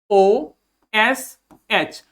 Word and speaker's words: gauche: ठीक, इसका प्रोनाउंसिएशन हो जाता है GOSH, गोश।